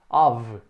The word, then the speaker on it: of: aqui com uma surpresa essa palavra aqui é muito mal pronunciada que ela não tem som df curiosamente o som é dever of a bit of i